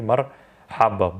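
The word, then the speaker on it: مرحبا: standpoint and pronunciation side, you want to tell the reader that it's actually a ha and not a ha, not an H sound. It's a ha sound. So marhaba. A few others are the 5.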